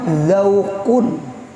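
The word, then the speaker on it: ذوق: Napa bacanya? Zauqun.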